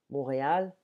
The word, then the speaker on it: Montréal: Montréal, on ne prononce pas le T en français, et après Paris, la plus grande ville francophone du monde, plus grande que Lyon ou Marseille.